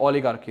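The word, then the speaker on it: oligarchy: वन इ ओलिगार्की कुछ ओलिगार्की पढ़ते हैं इसको कुछ ओलिगार्की पढ़ते हैं आई pronounce it like ओलिगार्की right ओलिगार्की इ गवर्नमेंट बाय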